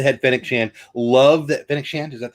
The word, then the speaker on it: Fennec Shand: Love that Fennec Shand.